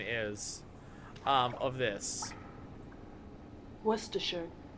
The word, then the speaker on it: Worcestershire: Is everyone ready to listen on what the British pronunciation is of this? Worcestershire. Worcestershire.